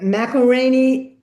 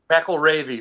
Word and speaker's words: McElravy: McElraney. McElravy. It rhymes with Navy. Oh, okay. McElravy.